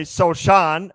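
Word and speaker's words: Sochan: gotten into another fight Jeremy soan as it is pronounced it ignited the hatred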